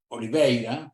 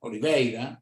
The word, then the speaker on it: Oliveira: porque es oliveira él me dirá si lo pronunció bien en portugués oliveira oliveira Hola iveira Sí Perfecto entonces dice acá Tiene